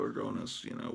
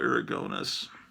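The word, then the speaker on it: Aragonés: I always pronounced his name Sergio Aragones, and apparently that's wrong.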